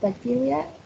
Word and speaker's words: bacteria: And finally we have bacteria. It has 3 syllables and the prominence is in the third one. The second one, sorry.